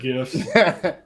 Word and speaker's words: GIF: Well, I didn't hit the button for you, but I will always pronounce it with the G. G? GIF.